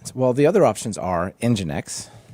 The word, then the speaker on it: Nginx: the other options are Nginx, right?